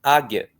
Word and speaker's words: águia: O U nem é pronunciado, então ele não conta aqui. E o a que é uma vogal, mas uma vogal átona, né? Fraquinha. Então fica águia.